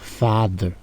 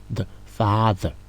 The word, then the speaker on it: father: Alors ici, à chaque fois qu'on voit T-H-E-R en anglais, ça se prononce d. Alors ici, on va dire father. C'est father.